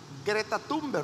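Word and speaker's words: Greta Thunberg: niñas sueca que nosotros el nombre lo leemos como greta tumba así lo dejaríamos en español pero como es un hombre sueco la auténtica o la correcta pronunciación es grieta thunder y entonces grieta tumbar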